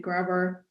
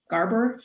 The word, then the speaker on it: Graeber: So the book that we were just talking about was Debt by David Graeber. Garber, how do you say his name? Graeber. Graeber, thank you, Graeber.